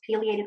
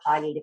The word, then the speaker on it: pileated: The pileated goes on, and pileated or pileated, both pronunciations are fine.